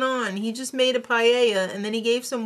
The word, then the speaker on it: paella: Is it paella or is it paella? It's paella. Alright, so just settle down, Toby.